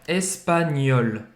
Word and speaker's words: espagnol: E c'est GN aqui que tem o som do NH em português, espanhol. Só que ele é um pouco mais pronunciado, né? Ouais, espagnol, espagnol.